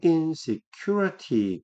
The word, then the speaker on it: insecurity: 발음이 insecurity. Q의 강세가 있네요.